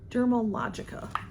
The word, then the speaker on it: Dermalogica: and Derma Dermalogica is how you say the name I have used some